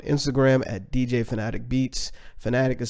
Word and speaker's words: Phanatic: Fanatic is spelled P-H-A-N-A-T-I-C, or Sounds for Producers on Instagram as well.